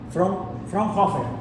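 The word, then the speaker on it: Fraunhofer: Frer se pronuncia Frerhofer no Frer no Frer Frer Frerhofer que trabajó en la industria del vidrio en la región de Baviera.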